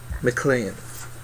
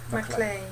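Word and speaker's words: Maclean: the movie Norman who mlan mlan mlan M mlan but it's spelled it's spelled yeah right it's spelled m a c l e a n like clean ma clean the we all right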